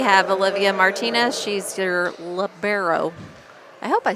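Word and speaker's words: libero: I don't know but it's labero not labaro or whatever I was saying so I hope I'm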